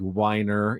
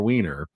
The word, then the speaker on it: Weiner: got to know that that is actually how it's pronounced. It's not like Winer, it's Seymour Weiner, they did a a